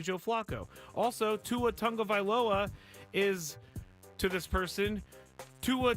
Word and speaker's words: Tagovailoa: Also, Tua Tagovailoa is, to this person, Tua Tagovailoa, which is also not their name. Not their name. Tagovailoa is not his name. It's Tagovailoa. Vailoa is not their name.